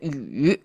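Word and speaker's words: 羽: It's pronounced as a yu, and the wings simply is like a pair, right?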